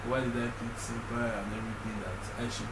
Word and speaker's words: S3ÑPÅÏ: So it's basically like S because the name of my how to pronounce my name is Senpai.